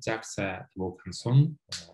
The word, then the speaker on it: Jacques Vaucanson: So here you have this guy, Jacques Vaucanson. That's how my friends is pronounced, okay?